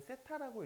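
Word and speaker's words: θ: 쟤는 세타라고 읽으시면 돼요.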